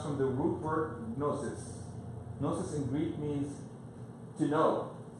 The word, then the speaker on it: gnosis: That's why in Greek there's a G, gnosis, and in English there's a K, because we got it from Greek, that we don't pronounce, gno, but it's actually coming from Greek, gno.